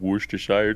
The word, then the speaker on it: Worcestershire: Dude, I just got Worcestershire sauce.